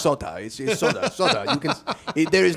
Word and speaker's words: Sotah: They say, "Sot." And I say, "No, it's just soda."